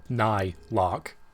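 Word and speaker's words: Nylocke: it okay it's just it's still nigh lock it's just spelled differently my brain i've had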